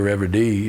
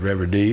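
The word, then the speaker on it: Reverdy: french and the spanish surrealists is immense pierre revere d is a french surrealist that most people don't know who that is but rev d which is spelled r-e-v-e-r-d-y is a magnificent poet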